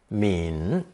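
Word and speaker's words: 皿: plate or dish radical pronounced third tone mean mean as a standalone character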